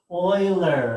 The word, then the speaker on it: Euler: think you would oh not the way i think i would kayla euler it's euler's number right it's euler's number this is euler's number euler is the one who